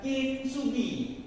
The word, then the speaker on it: kintsugi: Tulisannya kintsugi, bacanya lah kintsugi.